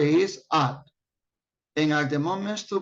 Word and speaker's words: @: The pronunciation for arroba is no arroba, it's at. That's the correct pronunciation, at.